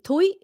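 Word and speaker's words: Thủy: So Thuy says her name is Thuy, but when non-Vietnamese try to pronounce it, they say Thuy, Thuy. And so she says Thuy. Thuy is how you do it.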